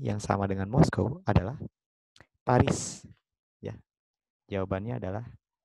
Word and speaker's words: Paris: Paris, dibacanya Paris ya. Jadi kalau orang Prancis, kalau akhirannya ada S, itu biasanya si S-nya itu nggak keluar tuh.